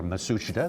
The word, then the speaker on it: Matsushita: six pound advantage over masayuki matsushita that sushita or masushita they're two ways that we've heard it pronounced john cox the big